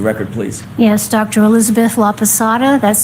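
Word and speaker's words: Laposata: Elizabeth Laada. That's spelled L A P O S A T A.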